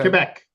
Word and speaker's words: Quebec: That's how it's pronounced as K. If Yeah, Quebec. Like I live in Quebec.